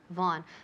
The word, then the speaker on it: Vaughan: Von. Remember, in English, the name is Von, pero aquí en España todo el mundo dice Vaughan, Vaughan.